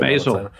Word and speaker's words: Maisel: I mispronounced the last name. Maisel.